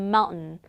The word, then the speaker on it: mountain: 진짜 마운틴의 T 발음은 찾아볼 수도 없어요. Mountain. Mountain. 자, 그럼 우리가 이제 은 발음이 나는 거를 같이 한번 정리해 볼 건데요. T하고 N 사이에 모음이 나오면요. 은 발음이 난다는 거. 대표적인 거 gotten이 아니라 어떻게 발음했습니까?